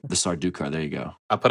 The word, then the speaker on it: Sardukar: Sardukar. And like the Sardukar, there you go. I put a lot of like pronunciation guys, and I got that one.